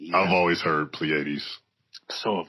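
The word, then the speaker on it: Pleiades: festivals talk about the Plleades or the um and I hope I'm pronouncing that right. It's P L E I A D E. I've always heard Plleades.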